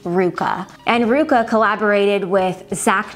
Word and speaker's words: RVCA: is by the brand Ruka you're gonna see the letters RVCA that's how you may think you pronounce it but it's actually pronounced Ruka and Ruka collaborated with